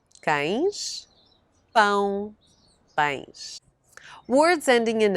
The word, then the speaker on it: cão: Ães, cão, cães, pão, pães. Words ending in ão, but with a written accent stressing the syllable before the last, usually have the plural ãos.